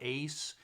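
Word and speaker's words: Uys: other night so uh riding the rails michael ace and it's actually spelled u-y-s but it's pronounced pronounced ace according to wikipedia and lexi lovell um uh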